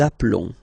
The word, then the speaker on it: appelons: Nous appelons. Okay, final s doesn't exist.